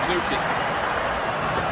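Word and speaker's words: Klute: Known as Chris Kluge, but this year, apparently, someone finally asked him how you pronounce his name. He says Kluge.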